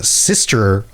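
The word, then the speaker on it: Systres: is part of the sister isle. It's spelled weird. It sounds like sister, like your sibling, but the spelling is different. The sister isles, and we're going to be going to a number of these isles.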